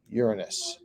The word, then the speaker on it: Uranus: the one that's mispronounced of course and it's pronounced uranus and it's odd because again we said like